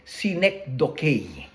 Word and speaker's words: synecdoche: Yung isa sa mga figure of speech sa Bible, merong tinatawag na synecdoche, pero yung pag-pronounce doon, synecdoche. Synecdoche.